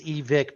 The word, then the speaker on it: Evike: It's Evic. Because the owner's name is Evic.